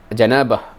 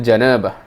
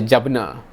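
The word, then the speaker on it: جنابة: This is the hadith that I'm thinking he's referring to, and this word janabah, right? Aghsilul janabah.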